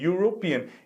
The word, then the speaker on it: European: Olha só, European. A gente pode até dizer que seria o som do I, mas you, em inglês, a pronúncia you começa com Y, não é mesmo? Então, é como se a gente estivesse ouvindo primeiro o som de Y, European.